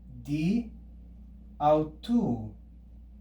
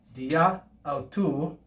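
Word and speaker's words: δι' αὐτοῦ: These two words can be contracted by dropping this alpha, and what we're left with is di, au, tu. Di, au, tu. And we mark the dropped alpha with an apostrophe.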